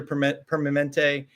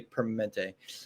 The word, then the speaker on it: Permanente: You know, you spent 2 decades in leadership at Kaiser Permanente, which I could never ever say Permanente. Permanente. I learned how to spell it naturally on a typer.